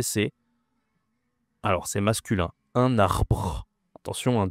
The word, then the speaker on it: arbre: Tree en français c'est alors c'est masculin un arbre. Attention un 2 R. C'est difficile hein. Tu dois faire comme un tigre arbre.